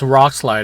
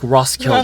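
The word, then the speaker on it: Roskilde: I call this place Rock Slide. I know that's not how you say it, but we also I agree. Ross. It's It's like Ross Kild.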